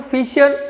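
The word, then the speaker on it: Fischer: The point number 2, Fisher projection formula or cross formula. Fisher is a name of scientist. Here C is silent.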